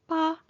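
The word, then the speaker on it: 八: The pronunciation of pa sounds nearly identical to the word fa, which means to prosper, to become wealthy, or to flourish.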